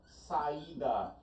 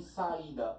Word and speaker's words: saída: O mesmo vale para a palavra saída. Em saída, o I está sozinho? Sim, o I está sozinho. Saída, o I está sozinho. É a sílaba mais forte?